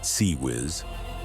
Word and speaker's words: CIWS: The close-in weapons system, CIWS pronounced SeaWiz, the ship's last line